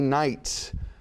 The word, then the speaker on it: Knight: Identify each of the following words or phrases that contain a silent K when pronounced.